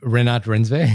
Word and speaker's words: Renate Reinsve: is a wonderful sequence with how do we pronounce her name, Sheer? We looked this up beforehand. Renate Reinsve.